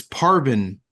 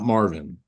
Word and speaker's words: Parvin: name left and right it's Parvin not Marvin uh Parvin is the